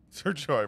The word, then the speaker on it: Sergio: Sir Joy, man. It's kind of like how, that's actually how you kind of pronounce it in Spanish. Sergio.